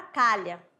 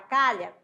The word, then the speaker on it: calha: terem uma ideia aqui na palavra calha preste atenção eu tenho cinco letras eu tenho cinco ou eu tenho um C Eu tenho um a Eu tenho um l eu tenho h e tem o a novamente então tem cinco letras tá ali separadinho bem aqui separado para vocês mas o fonema eu vou ter somente quatro por quê Porque o h não tem som H não tem fonema Tá certo não tem